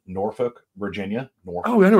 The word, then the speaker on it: Norfolk: of a river but they spelled it n-o-r-f-o-l-k for some god-awful reason but it's Norfolk there was an old